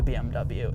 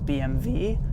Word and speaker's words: BMW: do you guys think should we be pronouncing BMW as BMV as it is in Germany as it was intended and designed to be spoken let me know in